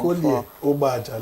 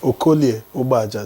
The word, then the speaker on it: Okolie Ubaja: Let me teach you how to say it in Delta. Okolie Ubaja. Say it. It's okay. Actually, there are three vowels. There are three vowels there, but because of contiguity, one will assimilate Okoli some.